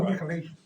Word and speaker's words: Nicolaitans: How you pronounce that? Right, Nicholas, the Nicolaitans. Oh, Nicolaitans.